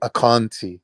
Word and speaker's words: Ashanti: put in the chat the correct pronunciation of Ashanti is actually akanti I'm just saying I'm